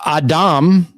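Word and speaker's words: אדם: let me show you this is an aleph that's would be your a sound this is silent a silent vowel this is your dollop for your D here is the A and that's the m so Adam okay when you have this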